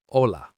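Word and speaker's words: hola: Which letter is silent in the word ola? The H.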